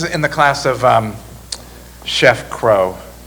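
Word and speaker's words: Cros: Once, mid-morning, and this is in the class of Chef Crow. Crow is spelled C-R-O-S, but you should really think of it as C-R-O-W.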